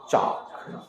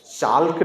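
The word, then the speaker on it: chalk: पढ़ना इसी तरह से सी एच ए एल के चाक चालक नहीं पढ़ेंगे चाक एस एच ओ यू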